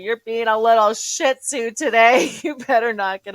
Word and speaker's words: Shih Tzu: I'm like, you're being a little Shih Tzu today. You better knock it off. Is that how you pronounce it?